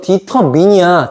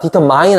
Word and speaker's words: determine: 이거 디터민이야. 디터마인 아니야.